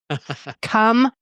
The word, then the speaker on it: comfortable: to me it's important wait you said comfortable with four syllables I thought you are you a four syllable or three- syllable comfortable must be four comforable and and I've got a listener right now being like no no no no it's three syllables for sure comfortable comforable comfortable